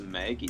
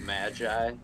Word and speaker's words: Magi: up before is the Maggie series yeah I mean it's irritating cuz it's spelled like Magi and should be pronounced that way but they just refuse